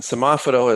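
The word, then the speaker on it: semáforo: in boy dot mx slash sama photo which is spelled s-e-m-a-f-o-r-o and semaphoto is stoplight in spanish and so mexico has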